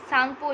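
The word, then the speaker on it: Tsangpo: यहाँ पर T silent है, सांगपो इसको पढ़ेंगे।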